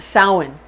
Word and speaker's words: Samhain: like it's spelled samhain but it's actually pretty pronounced samhain samhain it's spelled like sam mean but we